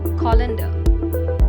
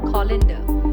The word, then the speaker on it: colander: be pronounced inspector now let's join the stream colander so the correct pronunciation of the word is colander now let's do the correct penance each of